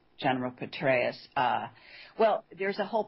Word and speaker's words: Petraeus: it's well Benghazi and the general is Petraeus that's how you say it so it's General Petraeus uh well there's a